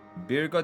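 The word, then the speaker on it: Byregot: Birgot is pronounced like Birgo.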